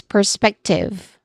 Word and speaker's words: perspective: Following that is perspective which has three syllables with stress on the second syllable here.